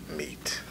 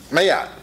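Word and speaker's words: Maat: Meat. You heard of it? I don't think that's how it's pronounced. M-A-A-T. Mayat.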